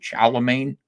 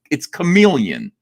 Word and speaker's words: chameleon: She didn't know how to pronounce the word chameleon. She was calling it a Charlemagne. I had to raise my hand and be like, it's chameleon. It's chameleon.